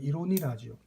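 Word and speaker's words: Ironie: 그래서 이 유머러스한 어떤 내용을 항상 작품 속에 포함을 시켰고 또 아이러니, 이제 독일어로는 이로니라죠. 독일어로 발음하면 이로니, 우리 보통 반어, 그죠?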